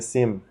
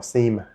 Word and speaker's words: SIEM: We also recommend upgrading your Microsoft 365 security licensing or using a SIM or SIEM, however you want to pronounce it, to monitor for actions that attackers typically perform.